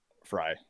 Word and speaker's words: Fry: how do you say your last name? Fry or Frey? Fry. Fry. Okay, Yeah. we were getting it right.